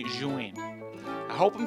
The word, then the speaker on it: Zhiyun: I watched a video from the official company saying Zhiyun.